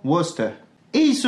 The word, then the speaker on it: Worcester: Et il se prononcera ou dans Bosom, Wolf, Woman. Wasted ou encore Worcester.